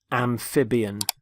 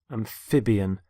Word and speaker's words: amphibian: first word is amphibian amphibian notice the stress on the middle syllable amphib amphibian there are animals such as